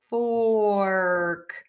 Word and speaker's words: fork: Or or many people who make a mistake with this word say huh. That is not what you're asking for. You are asking for a fork. Fork.